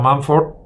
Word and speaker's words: Mumford: También Marshall McLuhan, también Louis Mumford, pronunciado Mumford, Dewitt MacDonald, muy interesante,